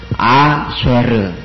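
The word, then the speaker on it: אֲשֶׁר: 밑에 줄 굽고 그다음에 해골은 뭐죠 세골 쇄골은이에 발음이 크게에 써줘야 되죠 그다음에 레시는 R 그러면 읽으면 아쉐르 아쉐르 이렇게 아쉐르 이렇게 해줘야 되겠죠 19번 레쉬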